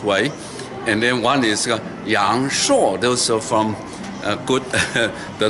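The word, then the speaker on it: 阳朔: I love you from Yang Shuo. But 本地人是杨所，是杨后鼻音杨硕。So this, when you come to Yang Shuo, you will hear two different distinguished ways. And then one is Yang Shuo.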